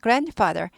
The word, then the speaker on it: grandfather: grandfather, 할아버지가 grand 발음 튀지 않아요. grandfather. 묵음은 아니에요. 없어지는 발음은 아닌데 단지 잘 안 들릴 뿐.